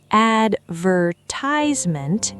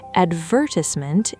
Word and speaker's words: advertisement: Advertisement stresses differently in each accent, closer to advertisement in American English versus advertisement in British English.